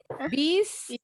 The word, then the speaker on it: bees: Bees, bees atau beesies? Yang mana nih? Bees, bees atau beesies? Bees, bees atau beesies? Yang mana nih? Pakai Z, pakai S atau pakai is? Pakai Z.